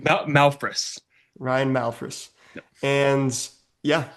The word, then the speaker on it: Malphrus: Malphrus.